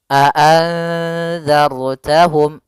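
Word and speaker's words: أَأَنْذَرْتَهُمْ: Ra yang dibaca dengan tebal, maka bukan a'anzartahum tapi tebal, a'anzartahum dan harus ditebalkan, a'anzartahum. Hati-hati juga sebelumnya ada zal bukan za, tapi bukan zai ya, bukan dibaca a'anzar tapi a'anzartahum, ujung lidahnya harus menempel dengan gigi seri.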